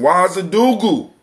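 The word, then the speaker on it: Ouagadougou: All right, somebody, we got, we got somebody calling in from Wazadugu.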